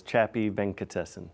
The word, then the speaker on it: Chapy Venkatesan: of your name yeah my name is chappy venkatesen there you go thank